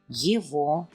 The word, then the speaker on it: Его: Его. Here, as you recognized, we pronounce the letter G as V.